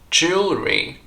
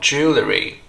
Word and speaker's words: jewelry: Jewelry, not jewellery. I know, it's very tempting to say jewellery because that's the way it's spelt.